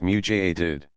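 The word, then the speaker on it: mujaddid: up for the community a muted pronounced mutated a renewer who calls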